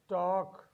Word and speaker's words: talk: We have a letter L, talk, chalk, walk. Here we have L letter as a silent letter, L as the silent letter.